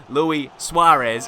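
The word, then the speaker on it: Luis Suárez: but imagine if Luis how is Luis Suarez that's how you say his name Luis Suarez imagine if that was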